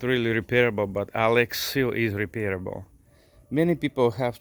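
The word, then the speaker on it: Alexseal: the boat in a Alex eel or Alex seal the they were they pronounced it for a reason that's extremely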